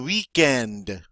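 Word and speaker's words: week-end: hours all right and notice the W is not pronounced like a V like it normally would be um they pretty much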